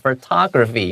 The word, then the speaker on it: photography: 节，尤其是它的重音在第 2 音节，是你我他的他。 photography 要记得这个地方哦。